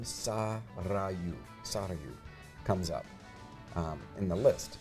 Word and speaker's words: Sarayu: And the name Sarayu comes up in the list, and I like it. I like it. She explains how to pronounce it, and it's got a rolled R.